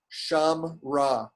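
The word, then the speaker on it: שָׁמְרָה: I'll read the Sham-ra. first one. Sham-ra. Sham-ra. Completely silent under that mem.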